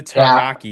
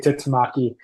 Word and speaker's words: Tutamaki: Centers, Nikolai Foliaki and Isaac Yeah, Taramaki, this two guys is that are joining. yeah, you didn't say his name right, but Isaac Tutamaki, I think he said Taranaki or something like that.